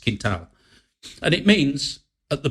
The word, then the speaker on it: quintal: spelling and fundo f-u-n-d-o d-d-e kintal q-u-i-n-t-a-l so quintile right but it's pronounced kintao and it means at the bottom of my